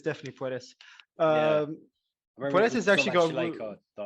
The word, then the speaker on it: Puelles: Oh, then it's definitely Puelles.